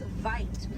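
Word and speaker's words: wyd: Original word for white rhino was vite. Vite means wide in Afrikaans, but over time it was misheard and mispronounced and it turns into the white rhino.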